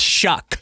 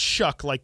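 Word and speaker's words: Shough: I believe it's Shuck. Yeah, you pronounce it Shuck, but it's spelled with a GH.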